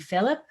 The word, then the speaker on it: Philip: You said it is Philip, right? Not Philippe? It is Philip, yes.